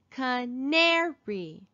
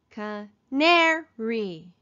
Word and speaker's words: canary: fireplace fireplace we hear it in the first syllable here's another long one canary ca neri where do we hear the accent re we